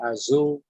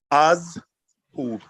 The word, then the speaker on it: Azhub: I got I remember, I think you told me Azul. It's not Azul. You have to realize this. When you're pronouncing the command tense, it's two syllables, but there is a pause.